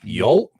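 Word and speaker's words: Yaulp: the one that it's called Yelp Yelp like Yol Yol yep spell spell that y a u l p we'll get the name Yol that's how they say yep in New in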